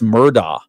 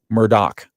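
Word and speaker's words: Murdaugh: Alex Murda. It's actually Murdoch. Yeah. Well, it's What do you mean? Yeah. The name is spelled M U R D A U G H.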